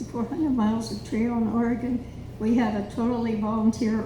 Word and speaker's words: Oregon: can benefit from because they say o-r-y-g-u-n that's how we pronounce it dale would you stand up and say oregon please some people